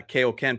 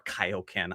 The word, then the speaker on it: Kaio-ken: Uh that's Goku doing his uh Kaoken power out or Kaio-Ken. I've been saying it wrong my entire life.